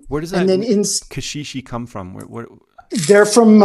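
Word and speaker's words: caxixi: uh from africa okay and uh kashishi is um also a funny word because it's really funny as well um it's spelt c a x i x i wow yeah that's cool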